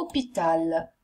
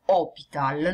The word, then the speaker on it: hôpital: Allora, hôpital inizia con una H, ma la H è muta, quindi è come se non ci fosse. Perciò è come se iniziasse nella realtà con la O, tanto è vero che quando pronunciate voi fate una O, hôpital, non hôpital.